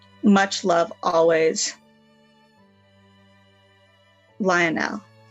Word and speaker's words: Lionel: e much love always Lionel like loyal it's spelled Li Oh Andy L so we'll see you